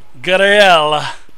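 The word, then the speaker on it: Garaele: he say your name gel sort of like sort of like guel but the French French pronunciation G so I go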